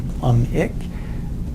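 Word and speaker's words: plumbic: By the way, the B in plumum is silent, but because most of the nomenclature that we do is written, if you want to pronounce the B instead of plumus and plumic, okay, if it gets you to spell it right, even better.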